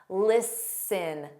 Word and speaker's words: listen: This is common with ST spelling. Not a rule, but a pattern. Listen, sin, listen.